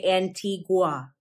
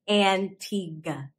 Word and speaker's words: Antigua: antigua and bar buddha you might be tempted to say antigua but say antigua antigua people from antigua